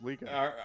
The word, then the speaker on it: Liga: How do you say it? Liga? Like league? Yeah, can we get the pronunciation in the chat?